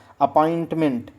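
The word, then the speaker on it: appointment: टी खा जाते हैं। ठीक है, तो टी साइलेंट है।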